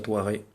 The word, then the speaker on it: Tatuaje: le tas thouaré chrono ça s'écrit tattu âge ça se prononce à thouaré je le côté un